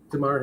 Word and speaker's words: Damar: That's Damar Hamlin. I hope I'm pronouncing the first name correctly. Yeah, it looks like you are Damar Hamlin.